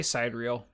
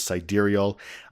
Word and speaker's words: sidereal: I say sidereal. I know. I did too at first, and I think a lot of people did. But then other videos I was watching for reviews, they pronounced it correctly, which is sidereal.